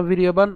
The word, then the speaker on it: বীর্যবান: কেন বীর্যবান? আমরা জানি যে অন্তস্থজয়ের উচ্চারণ সংস্কৃতে কার মতো হয়? অন্ত্যেস্তীয়র মতো হয়। তাহলে আমরা যদি একে ভেঙে উচ্চারণ করি, বীর ইয় বান।